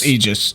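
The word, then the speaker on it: aegis: is why it's called a recovery AIS or egis or Aus or a it's egis it's it's a it's it's you don't get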